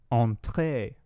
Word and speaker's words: entrée: Pretty much all French words, you always accent the last syllable. Entrée. Entrée.